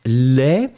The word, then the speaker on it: laid: Final D is not pronounced at all. But then when it will be the feminine form, you will pronounce the D because you add this laid. So it's really soft, it's not really strong.